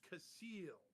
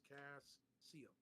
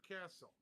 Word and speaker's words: Casil: It's Casil. See, like this. Cass-seal. Never castle. Common mispronunciation that irritates the natives.